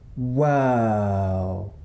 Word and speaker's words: whirl: This time, let's keep the w sound at the beginning, but also add back the sound at the end. What word do we get now? W. Whirl.